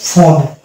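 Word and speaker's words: phone: এখানে পেয়ে যাবো আমরা কি পিএইচ এর দুটো মিলে ধরবো ফ, ফ, এটা হয়ে গেল ফোন।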